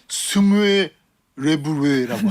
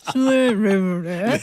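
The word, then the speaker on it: smørrebrød: 그다음에 이제 청어, 연어, 뭐 로스트 비프 같은 토핑 이렇게 얹어서 먹는 건데 그걸 이제 스무에 레브레라고 합니다. 스물레브레. 네. 여기 우 발음이 너무 많아가지고요.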